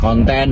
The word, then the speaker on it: konten: k u dan n kemudian konten huruf k o n t e dan n Jadi bukan konten seperti dalam bahasa Inggris nah ini Tentunya memperkaya